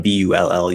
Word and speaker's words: bull: the country is uh the first one bull uses uh what i call the high schwa like book um that's according to